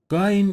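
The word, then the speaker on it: غ: a strong consonant line guyon is articulated from the top of the throat closely interspace of the mouth it is a strong consonant phae-phae is pronounced when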